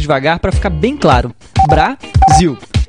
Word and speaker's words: Brasil: Brasil. Viu como o som do zil é mais forte e se prolonga quando falamos? Então, zil é a sílaba tônica.